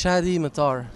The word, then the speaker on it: Chady Mattar: Just it's Chady Mattar.